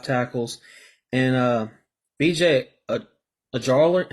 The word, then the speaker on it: Ojulari: And BJ Ojulari, how do you say his name? Ojulari. I don't want to. Ojulari, there you go.